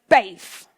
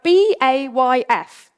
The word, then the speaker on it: BAYF: And this word is BAYF. It's spelled B-A-Y-F. Try it.